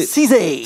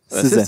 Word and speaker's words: SZA: Je crois que c'est SZA. SZA. Apparemment, c'est comme Reza, on dit SZA. On est dans le public. SZA. SZA.